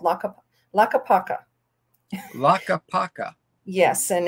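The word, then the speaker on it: Tlaquepaque: that's not right i took a picture it's pronounced la capaca and it is actually designated one of those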